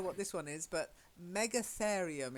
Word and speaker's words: Megatherium: this one is but Megatherium is how i pronounce it mega as in big and then ethereum so it's a big Clarion whatever one of those is Megatherium mega Florian okay so